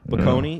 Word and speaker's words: Bocconi: How do you pronounce that to our Italian? Bocconi, I think. Bocconi, yeah.